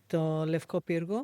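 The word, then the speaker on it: Λευκό Πύργο: It's got those elegant walks on the Levko Pyrgo.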